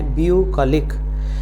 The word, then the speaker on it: bucolic: करें तो है BUCOLIC, और हमारा इसका प्रोनाउंसिएशन है ब्यूकॉलिक। आप के ऊपर ये स्लाइड बार देख रहे हैं, इसको आ ना कहकर हल्का सा ओ देना है, तो हम कहेंगे ब्यूकॉलिक।